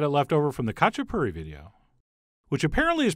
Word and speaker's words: khachapuri: which apparently is pronounced khachapuri. And by the way, to you people making up words, if you don't want me to pronounce the K, maybe don't start the word with it.